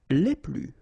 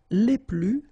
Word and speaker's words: les plus: Okay, so keep in mind that I don't pronounce this final S here, so we get le plus, la plus, les plus.